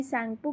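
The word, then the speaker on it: Tsangpo: आई है वापस तो उसको हम ऊपर चीन में शैंपू कहते हैं जिसमें टी साइलेंट है वो नीचे जब वो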